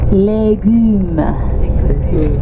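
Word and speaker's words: légumes: Legumes.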